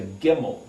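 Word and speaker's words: גימל: That's in the position of the C, but it's actually a G sound, where we get the word camel. In Hebrew is a gimel.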